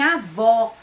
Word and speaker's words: avó: som mais fechado e o acento agudo como em avó que tem o som mais aberto e também o e